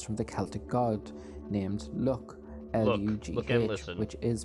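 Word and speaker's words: Lugh: his name comes from the celtic god named look which is pronounced l-u-c-k look which is where the leprechaun gained a reputation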